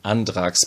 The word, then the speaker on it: Andrax: right and drax or i should spell it pronounce it german andrax because the author here is a german a peter beechman i